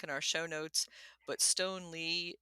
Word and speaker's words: Stoneleigh: our show notes but Stone Lee is spelled not Le but l e i GH thank you so much